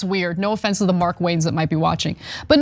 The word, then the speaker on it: Markwayne: I got it, like, it's Markwayne as one name.